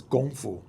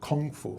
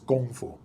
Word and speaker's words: Kung Fu: Well, correct pronunciation in more or less like close to Cantonese or Chinese in general is Gong Fu.